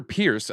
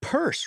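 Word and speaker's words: Peirce: which we found out it's purse right she pronounces it purse for some reason I'm oh well there is no I before the E there okay so maybe I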